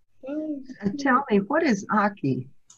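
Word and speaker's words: ackee: now now you got me we had some aki and we had some callaloo and some banana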